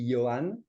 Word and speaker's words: Yohann: Because I could pronounce it the French way, and that would be Yohann. That's cool Okay. if you want to call me Yohann, but very few people actually call me that.